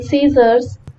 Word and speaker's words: scissors: For example, letter B in bomb, letter C in scissors, G in design, and GH in thought.